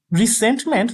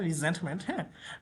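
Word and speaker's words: resentment: এখানে কি লিখছে আচ্ছা রিসেন্টমেন্ট যদি এটার উচ্চারণ আসলে রিজেন্ট আসে মানে এর মতন এসে পড়ে রিজেন্টমেন্ট রিজেন্টমেন্ট মানে বানান বাট উচ্চারণ মত রিজেন্টমেন্ট এটা অর্থ হচ্ছে ধর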